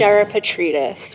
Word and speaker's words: Gerapetritis: Gerapetritis.